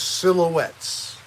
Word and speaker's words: Silhouette: comfortable because I use silhouettes they're called silhouette which rhymes with wet but no it is